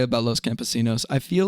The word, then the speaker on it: Los Campesinos: I went through a period where whenever I saw anything that was Spanish and had an N in it I would just pronounce it like an N yay. I found out later that that's not how you're supposed to do that.